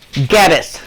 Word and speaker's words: Geddes: Geddes. Geddes. Yeah, that's, Kind of like Dennis, but with a G. Yeah, I kept thinking, I thought you were saying Dennis.